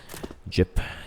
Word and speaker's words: JYP: going call the ultimate jip jyp is the way you pronounce it name we going to